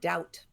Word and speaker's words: doubt: added a b in same thing happened with the b in the word doubt oh and subtle is another one but the for the most part you have a silent bee when it comes after an M climb comb crumb Dum lamb I want there to